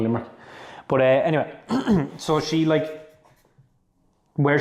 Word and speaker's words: Limerick: I'm going to Limerick. That's how you say it. Like, I'm going down to Limerick.